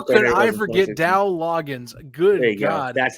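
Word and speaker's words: Dowell Loggains: That's how could I forget Dow Loggins? Good God. Go. That's how you pronounce it.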